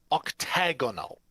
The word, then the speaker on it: octagonal: as an aerodyne individual learn how to properly pronounce the term for an eight-sided polygon it's octagonal if you don't believe